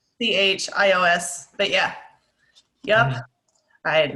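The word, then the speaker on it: Natchios: Oh, I know this one, and I just can't pronounce it. It's like Nachios, like N-A-C-H, or N-A, there's maybe a T in there.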